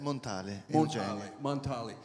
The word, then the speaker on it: Montale: You know, your great poet, I'm going to mispronounce his name, Eugenio Montale? Is that close enough? Yeah. How do you really say it? Montale.